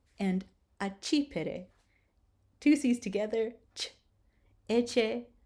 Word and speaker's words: accipere: So two C's together, you will pronounce ch.